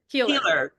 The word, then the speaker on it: Keiller: Keeler.